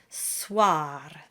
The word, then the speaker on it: soir: And of course, we always flip the R at the end. Soir.